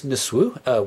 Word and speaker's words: nsw: So the symbol for what we translate as a king is a sedge plant, and the word is Nisw, we spell it NSW, that's the transliteration of it, and it means literally